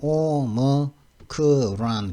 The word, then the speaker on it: Omicron: 근데 이거는 이 사람들은 오미크론이 아니고 오머크론 그럽니다. 오머크론 발음은 원래 오머크론이라고 하거든요.